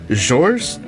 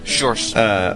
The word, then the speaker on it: Sjors: Sjors, S-J-O-R-S, Sjors, over at Sjo-Cal.